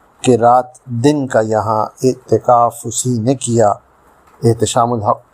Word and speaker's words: اعتکاف: کا لفظ ہے اعتکاف۔ اعتکاف جو درست ہے، عام طور سے لوگ جلدی میں اعتکاف بولتے ہیں، جو غلط ہے۔ اس کے معنی ہیں